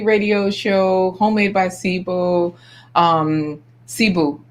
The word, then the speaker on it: Cebu: request is that Getty Radio Show, homemade by Sibo, Cebu. That's how you say it, right? Because I keep saying Sibo. Yeah, Cebu. yeah.